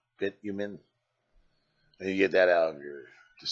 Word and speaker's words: bitumen: You get that from Bitterman. What is saying it wrong? Bitumen.